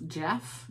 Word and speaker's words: Geoff: um and it's from kevin hart with geoff jeff g-e-o-f-f that's how i have to do sick